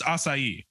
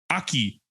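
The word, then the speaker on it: açaí: Like it's pronounced acai, and I get like acai, I get like stuff like that. This dude said, word. "Yeah, aki." I said, "You're missing a whole entire letter."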